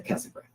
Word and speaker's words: Casa Grande: Grande would be more accurate, but locals don't say it like that. Locals say Casa Grande.